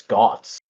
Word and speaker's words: Geats: Or like Geats, I think is the way you pronounce it. Spelled Geats. Geats. Really? Because from the information people were sharing around, I thought it was Gots. Gets, I don't know.